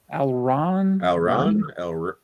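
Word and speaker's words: Alraune: I forgot it was on Criterion, so that's definitely Ken says Alrune. Am I pronouncing that right? Alron. Oh, okay. Thank you, Ken.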